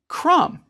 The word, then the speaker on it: crumb: hymnal and what about the silent be in krum you get a crumb when you crumble a cookie these silent letters are